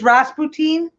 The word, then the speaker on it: Rasputin: how it's like booty it's Ross poutine brass poutine if you know what poutine is believe if I say